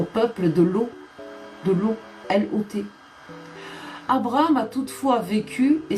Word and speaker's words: Lot: intéresse ou pas non c'est l'eau l o t il y a pas de E à la fin lot lot ok ça se prononce lot j'ai compris j'attends les